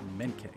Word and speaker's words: Menke: I think I was saying his name wrong, but it's Menke.